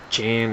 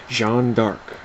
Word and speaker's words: Jeanne d'Arc: Jeanne d'Arc, and yes, that is how you pronounce it. It is not Jean, it is not Jan, it's not dArc. Jeanne d'Arc.